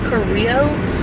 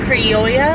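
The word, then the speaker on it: criolla: pronouncing that wrong still it's c-r-i-o-l-l-a but since it's a double l in a spanish language it's the yeah sound but that's hard to pronounce with it coming right after the i o so i don't know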